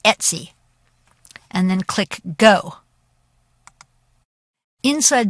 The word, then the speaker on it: etc: want to go to the folder slash Etc which is pronounced Etsy and then click go